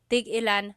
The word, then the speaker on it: tigilan: When there's no hyphen, tigilan, tigilan.